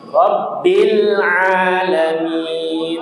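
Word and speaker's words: رب العالمين: Rabbil alamin. Rabbil alamin. Yang jangan membaca rabbil a rabbil Rabbil aa. Salah. Rabbil a. Ditahan bil a. Jangan bil ya. Enggak boleh dipantulkan ya. Bukan huruf qalqalah.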